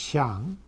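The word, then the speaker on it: 象: And on the right, you see at the top that same word in modern writing, pronounced xiang, which is used to mean elephant and to mean ivory.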